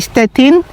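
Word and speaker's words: Stettin: Tapos dito nakalagay ay stetin. So in German and stchin in Police mga kababayan.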